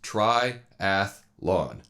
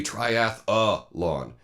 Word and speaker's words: triathlon: a pretty simple word it has three syllables it's try atthe lon that's it but for whatever reason every time I hear people talk about it they throw an extra up in there they say triathlon and that's not the